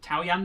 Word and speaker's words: Taoyan: Taoyan the Merciless. Yeah, there you go. You looked at us to confirm that's how you pronounce it.